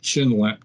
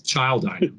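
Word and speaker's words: Schildiner: Count Rochefort in the 7 Circles of Satan by our dear friend Frank Chinlet. No, it's Childiner. That's how you say it, Childiner.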